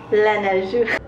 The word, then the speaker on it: Laneige: Okay, every morning for my cleanser, I use Laneige. That's how they pronounce it in Korean.